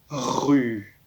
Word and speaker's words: rue: Mais en français, c'est un petit peu particulier, il y a une lettre à la fin, dans le mot rue, que l'on n'entend pas. C'est un E.